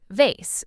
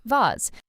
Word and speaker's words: vase: Americans often say it like vase while British speakers often say it like vase. Again, both correct, just regional differences.